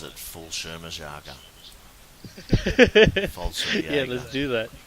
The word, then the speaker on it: Fallschirmjäger: I'll do the Fallschirmjäger. Hey. Or How did you say that again? I always wondered how that was pronounced. Fallschirmjäger. Fallschirmjäger. I always pronounced it Fallschirmjäger.